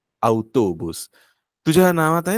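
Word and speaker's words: autobús: शब्द होता बुस त अवतोबुस तुझ्या नावात आहे ना गायत्री तो त जो आहे तोच स्पॅनिश मध्ये ट नाहीतोस नाही टीतोबुस फक्त तौतोबुसतो त्यानंतर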